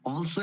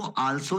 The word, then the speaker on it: also: दी आर्ट, इसको दी pronounce करिए, दी आर्ट of living is ऑल्सो an important education. इसको आल्सो नहीं, ऑल्सो प्रोनाउंस करना है, ऑल्सो, ऑल्सो an important education.